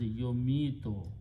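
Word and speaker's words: يميت: This one you put a ya in the beginning with the dhamma, and this is pronounced as yomito because the grammar is yuf'ilu. Yomito.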